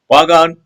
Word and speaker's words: Bagan: Bagan is the present-day standard Burmese pronunciation of the Burmese word Pugan, derived from Old Burmese Pukam.